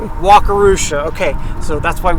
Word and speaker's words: Wakarusa: Um, so of course there's a bridge here and I can't pronounce the name of the river. Wakarooa. Walkarooa.